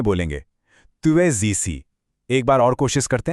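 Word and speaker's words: tu es ici: Sound भी है और एज और इसी के बीच वो लियाजों वाला जादू भी है, जहां स की आवाज ज बन जाती है। तो इसे एक फ्लो में बोलेंगे, तुए जीसी।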